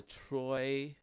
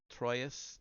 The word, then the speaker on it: Troyes: The episode is described in a passage by Chrétien de Troyes. I know I mispronounced that. Troyes, that lights up with imagination.